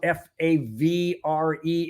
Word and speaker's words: Favre: I didn't like it when they had Brett Favre, especially when you can't even pronounce your name the way it's spelled. Favre is Favre, not Favre.